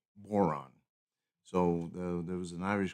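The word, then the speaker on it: Bodhrán: It's called a tipper, and it's spelled Bodhran, and it's pronounced boron.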